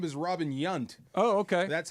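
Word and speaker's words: Yount: His his wife told me it's actually pronounced Yant.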